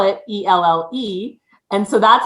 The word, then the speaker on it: Elle: And I said, why don't you just spell it ELLE? And so that's how it kind of came, but it's actually like the letter L, right?